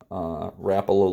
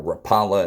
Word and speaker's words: Rapala: twisters my father-in-law loved Rapala lures or Rapala as US Americans like to screw everything up and mispronounce it and we've got some